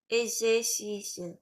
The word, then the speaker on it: exercices: Oui, c'est pas exercice, il y a une, c'est comme s'il y avait une autre consonne. Je vais prononcer plus doucement. C'est comme s'il y avait un exercice. Exer. Exercices. Juste, Exercices.